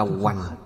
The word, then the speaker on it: hạnh: Đức hiệu thứ tư là minh hạnh túc. Ngày xưa hạnh cũng đọc là hoành, minh hoành túc. Đọc hạnh là danh từ, đọc hoành là động từ, là hành động, là động từ.